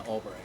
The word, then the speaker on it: Albrecht: Oh, no, but Albright is spelled with an O. But It's I was thinking. well, it's ALBRECHT, not the RI.